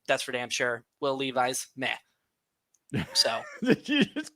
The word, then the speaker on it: Levis: It is Will Levis, by the way. I like Levi's though. I never know where you're gonna go with your pronunciations, and that's not one I saw coming. It's kind of legitimate pronunciation, but it's not the actual one.